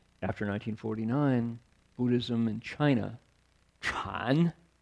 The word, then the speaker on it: Chan: So it's a historical accident that people know about Zen but not Chan, right? Because Zen is the Japanese pronunciation of Chan.